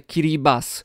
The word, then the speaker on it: Kiribati: o Kiribati to mówimy o kraju który też może być wymawiane Curie baz mimo że się pisze Kiribati w języku polskim stosujemy taką nazwę jaką się pisze Czyli Kiribati natomiast języku i brat i Lite heee które stoją obok siebie są wymawiane jako s wobec tego jest tribaz